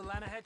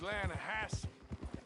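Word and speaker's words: Lannahechee: The other day I rode down to the Lanahei River.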